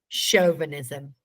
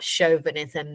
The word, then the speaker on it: chauvinism: what is it let's see if I can pronounce this right shm chauvinism so where the stress goes nod your head